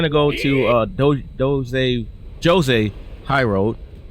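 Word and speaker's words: Djose: go to uh jose jose high road i don't know why i said jose but uh the d is silent um and we're gonna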